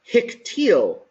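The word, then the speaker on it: הִקְטִיל: And the way that we read this is hiktil, all right?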